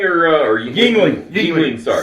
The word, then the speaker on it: Yuengling: Youngling or Yuengling.